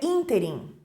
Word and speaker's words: ínterim: anunciada como uma oxítona as pessoas colocam a sílaba tônica no final ó inteirinho e o correto é ínterim também temos um Nobel